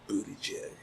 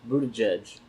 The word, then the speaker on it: Buttigieg: Pete Buttigieg. Dude, Pete Buttigieg is actually pretty smart, but he's Say his last name again? Buttigieg.